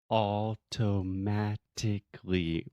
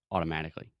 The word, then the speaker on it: automatically: So automatically, that's again the sound of T that we do not actually pronounce. We do not articulate the T's. We don't say automatically. We say automatically.